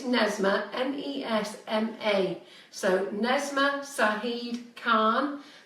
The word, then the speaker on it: Nesma: I think it's Nesma, N-E-S-M-A.